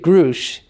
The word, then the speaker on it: Grusch: is referencing The Whistleblower David grou and grou is the correct pronunciation to give some context